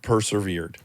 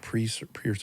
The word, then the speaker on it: persevered: I can't officiate this wedding to I've persevered. Good job. Pronounce that word for me. Persevered. Persever. Persevered. Not pre p.